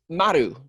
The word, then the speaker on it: Maru: Well, Maru, but it's Maru. Yes. Is that how you say it? It's Maru. Yeah, and don't get offended because I'm used to people not being able to roll their R's.